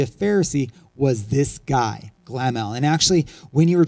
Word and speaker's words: Gamaliel: And this guy named Gamaliel, a million different pronunciation, use your own, won't make a difference. I'm going to use Gamaliel because that's what I've always heard.